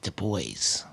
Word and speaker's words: Du Bois: My lovely wife went on Wikipedia, said it's pronounced Du Bois.